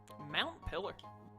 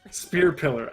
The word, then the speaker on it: Spear Pillar: Mount Pillar? Well, what else is it? Did I say it wrong? Spear Pillar? Spear Pillar.